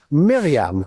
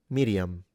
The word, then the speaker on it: Miriam: Miriam. I would roll the R a little bit, even though modern Israeli don't.